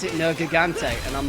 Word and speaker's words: Nergigante: Well, I mean, to be fair, they pronounce it Nergigante, and I'm like, that is cursed beyond belief.